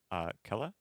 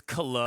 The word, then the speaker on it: Kala: And then the lobby we watched, we've got Ice, Yush, Milala, Chaos with the top four, Taro, Bintum, Kella. Is that how you say it? It's Kala, Kala.